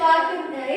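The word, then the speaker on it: walk: अब हमको यहां इसको डब्ल्यू ए एल के इसको बोलते हैं वाक।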